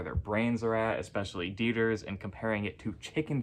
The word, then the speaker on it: Deters: have Justice Joseph T deers I think is how you say his name maybe it's dors or deters I'm going with deers chief justice Sharon L